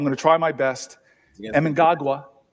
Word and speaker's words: Mnangagwa: And you always correct me on my pronunciation, so I'm going to try my best. Mnangagwa. Mnangagwa, thank you, sir.